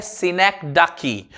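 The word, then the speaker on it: synecdoche: इसका प्रोनाउंसिएशन होता है सिनेक्डाकी, और सिनेक्डाकी का मतलब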